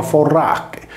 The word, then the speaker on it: Fornace: La Fornacalia era una festa in onore della dea Fornace, riportata in ablativo singolare con Fornace, che si leggeva Forrache, similmente al sardo Furrache.